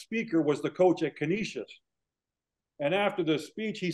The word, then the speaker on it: Canisius: Canisius.